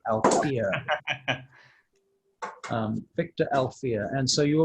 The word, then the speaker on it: Alphear: Funnily enough, his last name sounds a bit like one of your characters, Alfear, but it's spelled Alphear, Alfear.